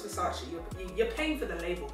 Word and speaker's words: Versace: How do you say it? Versace or Versace? Sorry, is Versace, not Versace.